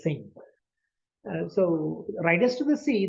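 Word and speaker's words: Synge: I think it's Sinch, written as Sinch, but pronounced as Sing.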